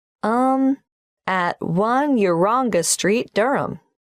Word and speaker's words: Durham: at one urongo street durham how do you spell durham d-u-r-h-a-m of course i should know that but it's just one of those names that sounds quite different from the way you spell it it is confusing i've